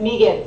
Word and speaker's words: Megan: Sure, my first name is Megan, so Megan with a long E.